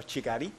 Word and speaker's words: Kigali: capital city very quickly it's called kigali or chigari as it would be called by rwandans um it's a very